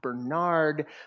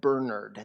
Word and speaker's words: Bernard: let me know that his dad pronounced his name not Bernard but Bernard the English pronunciation so you'll hear me